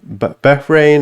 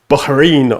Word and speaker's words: Bahrain: And no, if he's saying not like Bahrain or something in English, no, you need to say it like in Arabic, like Bahrain, or you hear like,